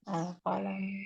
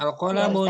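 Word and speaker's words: القلم: Al-qalamu. Jangan dibaca tanwin Ya al-qalamun.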